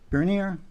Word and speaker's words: Bernier: We have a final site plan review for Port Harbor Holdings, and new business preliminary site plan review for from Peter Bernier. Did I pronounce that right?